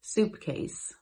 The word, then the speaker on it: suitcase: A suitcase they pronounced soupcase.